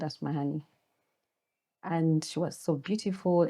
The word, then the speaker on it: Asmahaney: Some people call it Asmahan, some people Asmahani. So it's when... How do you call it? I call it Asmahaney. There's like a sharp honey. I accentuate the honey.